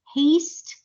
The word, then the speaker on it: haste: in haste all right so remember when there is an e at the end of the word you don't pronounce it there is no sound it's a silent E so the sound of a is a so that's gapes hates haste all right let's go